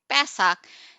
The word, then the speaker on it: Pesach: have to a sound we'll actually say pesach e in the first syllable and the second it's ah so a chance it